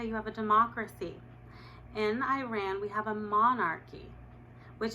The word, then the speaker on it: Iran: Also, the country's name is pronounced Iran. Iran is a sentence. For example, I ran to Iran.